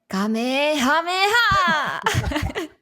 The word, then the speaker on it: Kamehameha: Kamehameha!